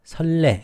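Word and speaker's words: 선례: 설례 먼저 온 이에 선레 설레 이렇게 발음을 하죠.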